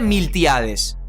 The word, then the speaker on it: Miltiades: mucho tiempo en Persia en griego el nombre de milcíades se escribe con t en vez de C y se pronuncia miltiades la similitud entre los